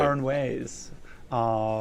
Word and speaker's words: Aranjuez: Aranjuez, with Richard Buckley and the Oakland Symphony Orchestra, who has performed in Europe, South America, and the Caribbean.